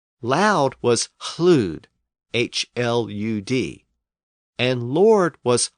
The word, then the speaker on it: hlud: So words like loud and lord and lady were also once pronounced with a slight breath before the L. Loud was hlud, H-L-U-D, and lord was hlavard, H-L-A-F-O-R-D, and lady was hlafti, again spelled with an initial H-L.